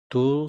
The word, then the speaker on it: 둘: Dul sounds like dul, which rhymes with cool, tool, pull, etc.